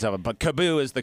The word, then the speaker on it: KaaBoo: We've gotten a lot of pronunciations of it, but Kaboo is the correct pronunciation.